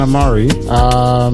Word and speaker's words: Amare: Everyone gets it wrong though. I don't. It's okay. What did you say, Dan? Amare. Amare. I said Amare, innit? Yeah. It's funny. It's the English. Only English people say it like that.